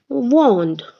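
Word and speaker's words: vends: form of the verb it is v-e-n-d-s s is silent two it is same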